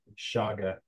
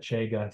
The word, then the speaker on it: chaga: cancer what's that Bella it's spelled c-h-a-g-a yeah thanks c h n g a it's a Russian word Shaga um and some people call it chega some people call it chaga I call it chaga